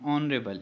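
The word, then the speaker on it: honourable: एन ऑनरेबल, यहाँ पर H silent है।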